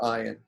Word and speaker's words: Ayin: But they're not really the same because Aleph is always completely silent. There is no version of Hebrew where anyone makes a sound for Aleph. Whereas if you go to Israel, a lot of Hebrew speakers in Israel make a sound for Ayin. And the sound would be something like al, the back of your throat.